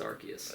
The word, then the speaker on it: Arceus: Oh, it's Arceus. It's Arceus. American. If movie. you say it any other way, you're wrong.